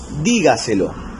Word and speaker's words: dígaselo: Por ejemplo, ahí tenemos la palabra dígaselo. Dígaselo es una palabra sobre esdrújula y ahí va a presentar su tilde.